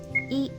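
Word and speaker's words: え: for the next character this is e or e it's the equivalent of the vowel i in english you pronounce this as e e is a short vowel so let's practice writing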